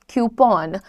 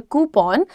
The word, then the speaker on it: coupon: कूपन code, कूपन नहीं होता है. In English you pronounce it एज अ coupon. What do you pronounce it as? A coupon. You can also call it a coupon, क्योंकि coupon is British, coupon is American. तो आप दोनों में से कुछ भी बोलो, बट कूपन मत बोलो, कूपन नहीं होता